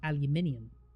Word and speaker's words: aluminium: fact for you guys it is indeed pronounced aluminium even Tommy agrees uh